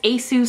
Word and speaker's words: ASUS: watching his videos so the way he pronounces it is ASIS so I'm going to